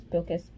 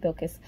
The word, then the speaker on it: Bilkis: I'm loving Sheba, who is Bilkis? I think that's how you say it, Bilkis.